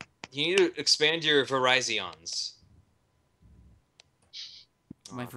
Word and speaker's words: Verizon: You need to expand your Verizons. My Okay. Verizians? For Google. No. The actual pronunciation is Verizon.